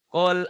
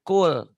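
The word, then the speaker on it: قُل: Qul a'u. Tapi idharnya ini jangan keliru ya. Ini idhar lamati atau lampiil. Biasanya ada di kata kerja ya. Kata pekerjaan. Qul, katakan. Makanya bacanya jangan kul, tapi qul.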